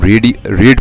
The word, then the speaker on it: read: ये, और इसको हम रीड पढ़ेंगे, लेकिन जो रीड का पास्ट टेंस है उसको हम प्रोनाउंस करेंगे रेड।